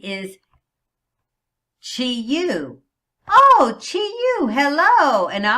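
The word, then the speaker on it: Qiyu: I don't care that it's Q-I-Y-U. Chi-Yu is how I pronounce that name.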